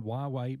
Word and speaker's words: Huawei: you've been playing around with you with a huawei phone I have I've been playing with the huawei mate 10 Pro and 4 we explain why